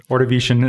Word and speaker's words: Ordovician: Ordovician is the first one.